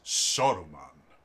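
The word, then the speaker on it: Saruman: he had this amazing bass voice no it's soruman it's sauron not sauron sauron like he and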